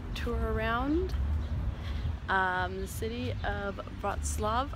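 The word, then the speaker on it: Wrocław: around the city of broad Slav I think that's how you say it I was saying it wrong earlier and just getting some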